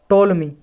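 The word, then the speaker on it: Ptolemy: रहे हैं एक है टोलमी पीस में साइलेंट है टोलमी नाम का एक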